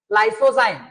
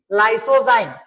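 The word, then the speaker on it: lysozyme: नाम है लाइसो जाइम लाइसो जाइम देखो एल वाई एस ओ जड वाई एम ई लाइसो जाइम ये हो जाएगा तुम्हारा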